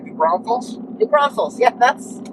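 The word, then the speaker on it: New Braunfels: headed to new brunfels new Brunell how do you say that that's right new Bron Falls new Bron Falls yeah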